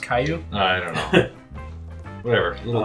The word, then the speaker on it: Caillou: It's pronounced Caillou.